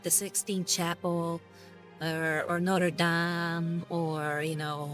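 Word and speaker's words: Notre-Dame: as well g i I already feel bad of how I pronounce that it's Notre Dam there we go Notre Dam Kabam fery says it's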